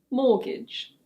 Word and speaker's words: mortgage: This one has a silent T. In British English it's: mortgage.